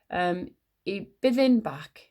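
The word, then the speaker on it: Y Bwthyn Bach: I byddin bach. That's how it's pronounced.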